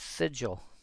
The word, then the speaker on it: sigil: He finally got he finally saw it enough times and it's like oh it's sigil because again it's it's